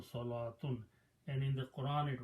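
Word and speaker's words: صلوة: In both cases the sound of waw is not there. So pronunciation it says salatun. This is also salatun.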